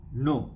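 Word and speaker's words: know: के इ एन ओ आधुनिक अंग्रेजी में हो गया नो के एन ओ डब्ल्यू अंग्रेजी में नो के एन ओ डब्ल्यू एक क्रिया है यद्यपि इसमें के का उच्चारण नहीं होता है के लुप्त है साइलेंट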